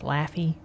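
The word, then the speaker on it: Laffey: USS Yorktown and USS laughy Laffy Taffy which yeah which is an interesting name for a ship that went to war but it's not spelled like laughing but we hang out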